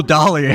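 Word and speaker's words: Dahlia: the Leia cuz welcome guest oh Dolly that's how you pronounce her name okay maybe from maybe from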